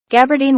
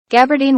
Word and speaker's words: gabardine: 이 부분 발음이 좀 어려워서요. 한번 영어로 한번 들어보도록 하겠습니다. Gabardine was patented by Thomas Burberry in 1888. Gabardine was patented by Thomas Burberry in 1888.